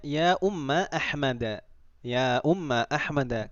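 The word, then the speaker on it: أمَّ: Kalau saya tanya, tadi saya membacanya ya Umma Ahmada. Ya Umma Ahmada. Kenapa saya membacanya Umma bukan Ummu?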